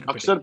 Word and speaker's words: Axar: Akshar Patel, which is, I Okay.